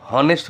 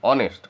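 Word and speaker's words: honest: হচ্ছে তাহলে এটা হবে এন অনেস্ট এটা কিন্তু হনেস্ট হচ্ছে না হ দিয়ে হচ্ছে কিন্তু অনে হনেস্ট এরকম না অনেস্ট অটাও কিন্তু এন দিয়ে আচ্ছা আবার যদি আমি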